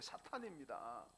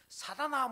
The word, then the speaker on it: 사탄: 사아 사 그분 있 여러분 정확한 발음은 사탄 제가 지금 교정해 주는게 사탄입니다 여러분 히브리어로 사탄 갈 때 탄이라 그럴 때요 타우라 스펠링을 씁니다 타우를 영으로 음력게 되면 티 발음 나는 거 티 발음 그니까 예수님도 마태복음 16장에서 사단아 물러가라 안 그랬습니다 사탄아 물러가라 그랬어요 성경 보세요 근데 어떤 분들 저한테 발언 교정시켜 주다 목사님이 사탄이라 그럽니까 사단이라 그러서데 사단이라 것도 아니고 사탄입니다 사탄 그 그 군군